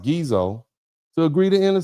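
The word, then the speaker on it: Ghezo: In 1851 and 1852, the British even blockaded the Dahomey's ports to to force the king and I believe his name is spelled uh pronounced Gezo to agree to end the slave trade.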